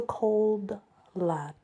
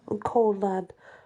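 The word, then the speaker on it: Cauld Lad: we left off we are now on the cold lad and it's spelled c a u l d cold lad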